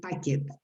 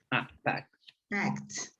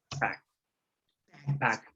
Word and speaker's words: packed: Packed, the pronunciation. No packet. Packed. Packed. Packed.